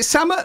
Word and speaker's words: Sammut: Bianca, is it Sammut? Am I saying it right? Sammut, yes.